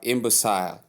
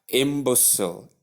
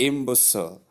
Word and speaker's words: imbecile: Combining them we have imbusile. No. Then you can still pronounce it thus after the schwa sound. You have s sound and short e sound and the sound. The only difference is the i sound and the short e sound. So in that pronunci pronunciation we have imbecile. I imbecile.